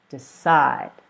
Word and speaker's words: decide: maintain and then the verb decide so two syllables decide and the stress according to the rule is on the second syllable decide decide all right so I hope